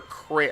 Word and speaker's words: Creamer: She Wait, is her last name Creamer or Kramer? I know it's spelled Creamer, but I think it's pronounced Kramer. Kramer?